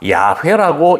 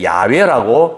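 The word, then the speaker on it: 야훼: 우리나라 성경에는 하나님의 이름을 여호와라고 부르는데 일부 성서 고고학자들은 여호와가 아니라 야회라고 읽어야 된다고 주장을 하는 것입니다. 그래서 몇몇 교단들은 여호와 대신에 야외라고 그렇게 읽는 교회들도 있습니다.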